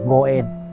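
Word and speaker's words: 五円: Tại vì 5 yên trong tiếng Nhật đọc là Goen.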